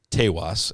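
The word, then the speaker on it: Taos: ends up coming to taas Tas as the locals say I feel like that's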